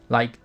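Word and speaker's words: り: Like, take the Japanese character, Ri. In Romaji, it's written as Ri, but the actual pronunciation is closer to Li.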